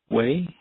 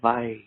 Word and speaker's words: wai: But the W in Hawaiian in this context is like a V, so we'd say vai.